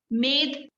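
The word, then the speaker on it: मेद: this is called sanskrit name pronunciation just understand pronunciation which called which called muscle made m e d a made which called fat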